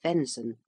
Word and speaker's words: venison: governing council of rome venison pronounced venson the flesh of deer